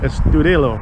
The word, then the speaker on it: Estudillo: Estudillo.